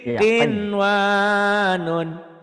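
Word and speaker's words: قنوان: Kemudian Kinwanun. Qaf ya. Iya, qin. Qinwanun.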